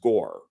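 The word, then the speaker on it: Gorr: I think it's pronounced out Gore. Just G O R R Gore.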